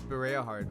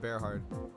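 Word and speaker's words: Bareahard: Oh, it's Bereahard. Oh, my bad, not Bearheart.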